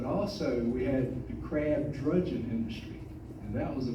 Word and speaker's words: dredging: And see, a lot of people will call it crab dredging, which is correct how it's spelled. But if you work on the water, it was crab drudging. So that's why we call it drudging.